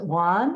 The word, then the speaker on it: WAHN: Women's affordable housing Network I believe you pronounce it Juan is that right that's right okay and